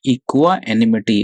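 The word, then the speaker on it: equanimity: Next word is इक्वानिमिटी, इक्वा एनिमिटी। अच्छा, इसको पढ़ेंगे कैसे? अब देखो, इसको पढ़ने के लिए ना you have to break it. तो इक्वा, इसको ऐसे पढ़ लो, इक्वा एनिमिटी, एनिमिटी।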